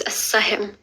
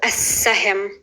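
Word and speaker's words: Al Sah-him: The next thing I'm going to show you how to pronounce is as-sahim. So if you've seen the show Arrow, he's called as-sahim.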